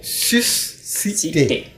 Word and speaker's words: susciter: Susciter. C'est sus, c'est pas S-U. Oui, mais là, c'est pas sus. Le su, quoi. Le su, citer. Non, on dit susciter.